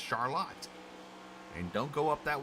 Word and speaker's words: Charlotte: spelled the same as Charlotte it is not pronounced Charlotte though it is pronounced Charlotte and don't go up that way and say